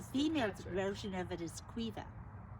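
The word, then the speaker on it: Caoimhe: not well the female version of it is cuiva how do you spell that c-a-o-i-n-b-h-e that's the irish first she's like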